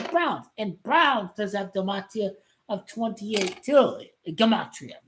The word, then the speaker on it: gematria: And Browns does have gematria of 28 too.